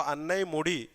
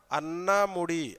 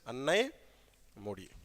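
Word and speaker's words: Anamudi: for the north Indians so anay moodi sometimes you can call it as a anami anami or an moodi yes anai moodi Ana Malay Ana Malay is also correct because Malay or mudi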